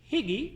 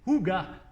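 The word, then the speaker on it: hygge: Le livre du Higi, non, prononcé Huga.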